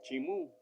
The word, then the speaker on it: Chimú: Lo pronuncian ahora Chimú. Yo digo Chimu.